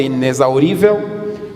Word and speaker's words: inexaurível: Mas eles explicaram que é preciso respeitar a pronúncia de Z, no caso de inexaurível, toma a pronúncia de S, dois S no caso de próximo.